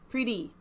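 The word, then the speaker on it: Priti: I get it she's pretty that's how it's pronounced pretty thank you that was helpful I missed that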